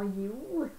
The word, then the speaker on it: Jéhu: Moi j'ai dit Jéhu, mais bon, c'est sûrement Yehou. Non, ouais, tu pourrais, si tu le prononcerais dans l'hébreu, il n'y a pas de J, donc tu vois Yehou. donc ce serait un I, Yehou.